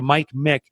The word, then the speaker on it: Michalowicz: Hit the space bar and type in Mick, M-I-C. So Mike Mick, and you'll see this long Polish name drop down by the time you push Mick in, and that's me.